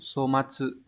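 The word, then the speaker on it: 粗末: Chúng ta sẽ có chữ thô này có cách đọc âm onyomi là so. Ví dụ trong từ somatsu. Somatsu.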